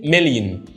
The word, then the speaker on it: million: الكلمة دي مهمة جدا، بنطقها ازاي؟ بنطقها بص million. اخر صوت متحرك ده عندنا هيبقى صوت ضعيف جدا، بقول بص million. فكلمة million فيها صوت متحرك في الاخر ضعيف جدا، فبقول million.